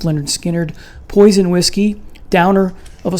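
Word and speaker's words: Lynyrd Skynyrd: Next is from the debut album pronounced Leonard Skinnard.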